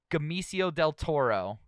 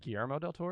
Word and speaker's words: Guillermo del Toro: Gamicio del Toro. Okay. Say his name, actually his name. Guillermo del Toro?